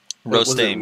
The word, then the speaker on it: Rostame: It was Rostame, right? Rostame, yeah. He pronounced Rostame.